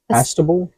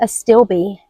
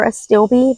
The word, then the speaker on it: Astilbe: Let's see this one here, Visions in White, Chinese Astable. I think they pronounce it Astilbe. Astilbe. That sounds more phonetically correct.